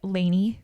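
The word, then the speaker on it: LANY: Saturday Adam and I are going to a Laney concert Laney is like my favorite band ever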